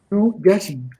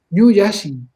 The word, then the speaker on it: Ñuyashi: Nasalizada, la I nasalizada se escribe poniendo una N en esa sílaba. En la sílaba nasalizada se pone una N al final, eso significa que está nasalizado. Ñuyashi. Yashi. Tenéis que hablar con la nariz.